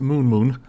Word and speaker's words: Nud9: Don't be confused by the name. It may be spelt Nud9, but it's pronounced Moon.